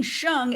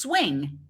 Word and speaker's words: Hsiung: of the defendant and mispronouncing Wayne shung as Wayne's swing that's weird that's just